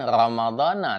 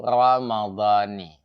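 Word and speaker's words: رمضانِ: berniat yaitu kita mengucapkan kalimat yaitu Naam bukan diucapkan Ramadana tetapi ramad kemudian bukanillahi kapa kalimatnya dibaca yaitu Ramadani karena yang pertama Memang betul bahwa kalimat Ramadana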